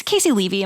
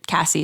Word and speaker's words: Casey Levy: It's Casey Levy. Am I saying it right? Yes. Okay. I always want to say her name is Cassie.